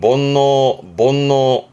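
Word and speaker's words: 煩悩: 이게 번뇌예요. 발음은 본노.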